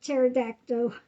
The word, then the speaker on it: pterodactyl: Yeah, the P is silent, like pterodactyl.